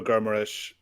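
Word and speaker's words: Guimarães: But you brought in Bruno Guimaraes from Lyon at 40 million. That's a nice pronunciation, Kev.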